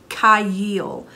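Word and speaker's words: חַיִל: And the phonetic pronunciation is Kayil.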